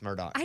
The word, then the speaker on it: Murdaugh: Well, and so it is spelled Murdaugh, but Amy told me, hey, idiot, it's Murdoch during the break.